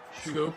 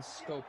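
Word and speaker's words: Schoop: I'm upset that Jonathan Scope is named, it's pronounced Jonathan Scope and not Jonathan Shoop or Scoop.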